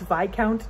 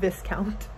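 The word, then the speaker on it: viscount: have been informed that it is VI count not this count I've been saying it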